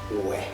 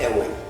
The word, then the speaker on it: Uwe: Well, one reason is that even the British, our colonial masters, they find it very difficult to pronounce Uwe. At that time they pronounced Ewe.